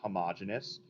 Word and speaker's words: homogeneous: The first is a homogeneous mixture. You could also say homogeneous. That is another acceptable pronunciation.